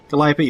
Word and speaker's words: Calliope: How the fuck do you pronounce that? I don't remember. Calliope? Calliope, that's it.